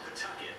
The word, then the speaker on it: Pawtucket: Although Pawtucket really is how you say it.